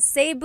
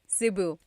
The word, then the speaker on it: Cebu: So, technically in the Tagalog alphabet, the letter E can be pronounced E or E like the letter I. So, I say Cu. Cebu. And I know some people say Sabu, but usually it's either Cebu or Sebu.